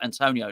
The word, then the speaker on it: Antonio: and Mel Antonio absolutely the right way you pronounce Antonio there so Lucas fabianski G waca too too